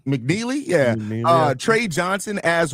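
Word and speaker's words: McNeeley: Um Lean McNeely. McNeely.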